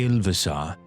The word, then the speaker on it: Ilvasar: Make sure you say Ilvasar. He's the ambassador now. Oh. What's his name? How do you spell that name?